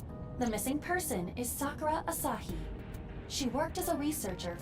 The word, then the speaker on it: Asahi: Asahi? You mean Asahi? Like, bro, like, how are we existing in 2026? And we're still doing this fucking Naruto Sakura ass pronunciation of Japanese names and words.